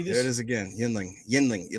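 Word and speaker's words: Yuengling: Yinling. Yinling. Like yin. Like you, Yinling. see, you keep saying yin. It's not yin. It's Yingling. Yin. Like Y-I-N ling. Yinling.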